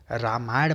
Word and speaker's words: राम: को फॉलो करें, तो उसमें द डिवाइन किंग राम, हाँ ये रामा मत बोलिएगा भाई, ये रामा नहीं होता है, रामा शिवा कृष्णा मत बोला करिए, अंग्रेज मत बनिए।